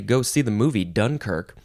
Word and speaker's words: Dunkirk: First of all, we gotta say, go see the movie Dunkirk. It's a great movie by Christopher Nolan. Okay, this is a noun. You can emphasize either syllable.